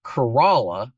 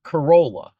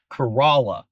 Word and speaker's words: Corolla: But the English lesson Corala is spelled like a Japanese car that some of you may be familiar with, but it is pronounced Corala, not Corolla.